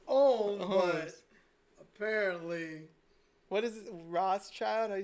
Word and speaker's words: Rothschild: apparently what is this Rothschild I spell that right like our oths yeah like David Lee Roth you keep saying Ross Ross child yep complete list of